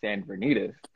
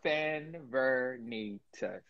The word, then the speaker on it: Sanvernetas: So, you know, the correct pronunciation is Sanvernetas. So it's like, like Sanvernetas.